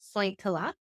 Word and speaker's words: Sointula: Yes, I grew up in a very small Finnish fishing village called Sointula, pronounced Sointila, off the Okay.